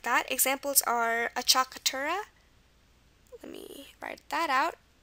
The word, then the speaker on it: acciaccatura: And when we cover consonants, we'll see why this is pronounced acciaccatura in regards to the consonant sounds. We'll see that later, but regarding the sound, here we have the U for the sound.